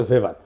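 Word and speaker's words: Weber: আরেকজন দার্শনিক আছে ম্যাক্স ভেভার এটা ওয়েভার বলে অনেকে এটা উচ্চারণ আসলে ভেভার তার একটা লেজিটিমেসি এবং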